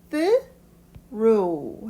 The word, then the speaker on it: through: 단어가 조금 복잡해 보이지만 through 해서 마지막에 GH는 발음을 하지 않는 through라고 발음하시면 되는데요.